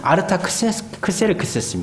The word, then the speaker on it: 아르타크세르크세스: 그의 아수의 아들인 아닥사스다이 아닥사스다 저 음역이 이거 아스타가 아라마 음인데 원래 이름은 아르타크세르크세스 아르타크세르크세스요 사람에게 있어서 아 나도